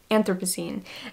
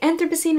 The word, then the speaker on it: Anthropocene: I think it's Anthropocene.